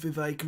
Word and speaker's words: Vivek: Oh, imagine how sad you'd have to be to like, can I speak with Vivek Ramaswamy, who rhymes with K. Ramaswamy and Jack Posobiec and Elon Musk, please?